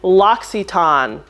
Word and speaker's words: L'Occitane: And they said, you can either pronounce it the American way or the French way. So the French way, which I did, or the American way, L'Occitane. That's how they say it in America.